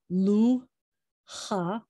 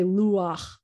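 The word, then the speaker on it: לוח: say it first so instead of saying lucha only at the end of words only when the head is at the end of word not other letters with that ah vowel you're gonna say luwak you're gonna say the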